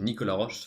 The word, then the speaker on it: Nicolas Roche: Actually, Nicolas Roche, sorry. Because it has to be pronounced the French way.